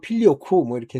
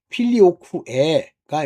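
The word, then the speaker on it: Filioque: 뭐 걔네들이 발음하는 식으로 필리오쿠 뭐 이렇게 했는데 필리오쿠에가 이제 정확한 발음이라고 전 봐요.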